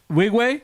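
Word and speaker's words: Nwigwe: pronounce his last name wig way yeah that's it yeah the N is silent so I used to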